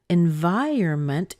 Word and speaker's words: environment: when people say that so environment has a pattern like this it's mmm by year and month that's actually a pretty normal pattern it the first syllables week the second syllable strong the third syllables weak the four syllables weak so ba ba ba ba and the stress here is the vie part kind of that V